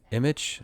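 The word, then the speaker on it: Immich: Future research to do um on my list is to do more research on image. Kind of sounds like the word image.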